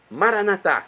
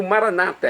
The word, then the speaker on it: Maranatá: Maranatá, como dizemos nós católicos, é do dialeto de Jesus, o aramaico, ou maranata, é como dizem nossos irmãos separados, os evangélicos ou protestantes. Não importa a pronúncia, o significado é o mesmo.